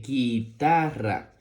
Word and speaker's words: guitarra: de la siguiente manera con una G luego una u y luego una I que suena gui todo esto junto suena gui la t con la a suena ta y la do R con la a suena ra gui t ra guitarra